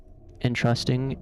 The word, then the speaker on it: entrusting: Entrusting stresses the second syllable.